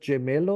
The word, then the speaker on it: gemello: Is it gemello or something?